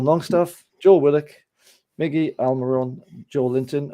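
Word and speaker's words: Joelinton: Kieran Trippier, Fabian Shaw, Sven Botman, Dan Burn, Bruno Guimaraes, Sean Longstaff, Joe Willock, Miggy Almiron, Joe Linton, or how did Bruno pronounce that? It was Hoylinton. Was it Hoylinton?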